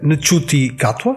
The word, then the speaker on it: Ncuti Gatwa: Eu creio que se pronuncia Ncuti Gatwa, mas não tenho a certeza.